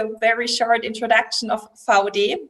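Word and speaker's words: VAUDE: very short introduction of VOD. That's currently the correct pronunciation of our company's name.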